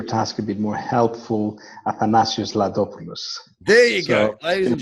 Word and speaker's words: Athanasios Ladopoulos: to make your task a bit more helpful athanasius lopus there you go ladies and gentlemen you I